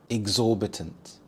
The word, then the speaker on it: exorbitant: Exorbitant. Exorbitant. The stress is on the second syllable. Zor exorbitant. This means unreasonably excessive or high, especially with cost or price.